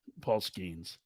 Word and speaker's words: Paul Skenes: Is that how it's pronounced? Paul Skenes.